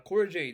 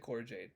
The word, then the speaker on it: Cora Jade: who's the first one uh cora jade yeah i said corey jade okay and then yeah